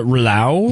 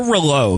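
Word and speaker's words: Rouleau: u l e a I would say uh rela rela there we go or relo because that's like how you'd say like B in French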